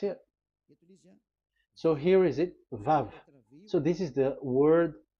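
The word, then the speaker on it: וָו: VAV. Your claw, your mouth is like closed. VAV. So it's V as in Vogue.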